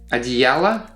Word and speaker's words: одеяло: It happens because that last o, in the singular form, it is unstressed, so we pronounce it as a.